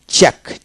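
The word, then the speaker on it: check: black C এইচই কে চেক চেক সি উচ্চারণ হবে না সি এল আই কে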